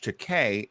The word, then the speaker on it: Takei: And he always says, George Takei, it rhymes with okay.